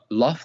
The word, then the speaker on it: lafz: So let me teach you how to say it. Lafz.